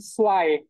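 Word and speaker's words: zwei: মানে দেখেন এখানে জয় হওয়ার কথা না, রুলস অনুযায়ী আগের ওই ইংলিশের সাথে ম্যাচ করে, কিন্তু এখানে জয় হবে না, এটা সোয়াই হবে।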